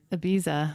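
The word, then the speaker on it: Ibiza: Now he pronounces abiza like the way the Spanish pronounce it with the that kind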